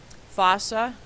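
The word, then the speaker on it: fossa: opening through a bone fosa like moss and then fan we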